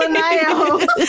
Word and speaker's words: Linayao: Yeah, Linayao.